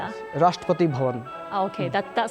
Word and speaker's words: Rashtrapati Bhavan: Am I am I pronouncing this correct? The presidential office or the the official residence in India. Yes, Rashtrapati Bhavan.